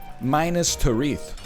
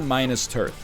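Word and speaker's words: Minas Tirith: it can't really be minus tariff and don't let it dang get you twisted up that's the way it's pronounced minus tariff that's the way it's pronounced it's not minus turth okay that's that's daniel's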